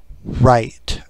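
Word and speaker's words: Wright: And the rooster's name is Right, like White, Right? W-R-I-G-H-T, the name, not like writing. But I guess it's pronounced right, or it's not Dwight, but it's like, I don't know how to pronounce his name.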